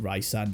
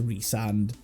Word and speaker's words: Rysand: That's not how you pronounce his name, but I prefer it to Reand because I would rather call him Ryand and Rice instead of Reand and Ree cuz Ryu and Rayu.